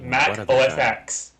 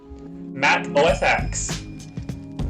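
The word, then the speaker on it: Mac OS X: Mac OSX. The X in Mac OSX's name represents the Roman numeral for the number 10, and Apple has stated that it should be pronounced 10 in this context.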